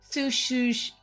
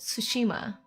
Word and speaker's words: Tsushima: of the stream is sushush sushima is it only sushima it is why do I say it with an extra syllable tsushima ghost is sushima you're